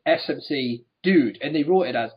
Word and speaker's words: SmCDuDe: of days and they said his name is pronounced SMC dude and they wrote it as SMC Das dude